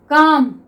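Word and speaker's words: calm: ऐसे ही नेक्स्ट देखिए, काम. ठीक है, यहाँ पे एल हमारा साइलेंट रहता है, हम इसको क्या पढ़ते हैं, काम।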